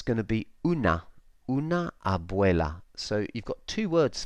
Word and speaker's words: abuela: in Spanish that and one way of remembering how to pronounce that is to think of the English word way W a Y because that's how it sounds abuela abuela okay so you can